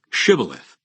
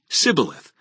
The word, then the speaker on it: shibboleth: I'm not they would tell him to say shibboleth if he was from Ephraim he would say sibileth because people from Ephraim cannot pronounce the word correctly then they would take